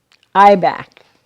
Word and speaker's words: Ibach: Ibach, That's how you pronounce that.